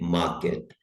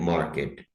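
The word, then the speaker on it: market: इसमें भी हमने आर पे देखना है। ब्रिटिश स्टाइल में मार्केट और अमेरिकन में मार्केट, की आवाज आएगी हल्की सी, मार्केट।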